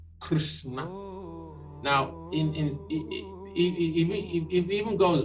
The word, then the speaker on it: Krishna: you you don't even you're not even supposed to pronounce the a Krishna that's why you